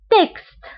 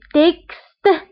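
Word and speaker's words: texte: اكزامبل تكست، هنا اكس قرناها بكس، يعني تكست، لان اكس جاتني في وسط الكلمة.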